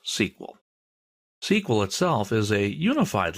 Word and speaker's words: SQL: Well, it's a version of SQL. We'll talk about that in a minute. People in the know don't say MySQL. They say MySQL. That's generally how it's pronounced. And SQL is usually pronounced SQL.